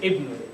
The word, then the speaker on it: ibn: Like if it's at the beginning of the word of the sentence, you say ibn, and if you start with it.